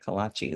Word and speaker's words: kolaches: That's how you say it, kolaches.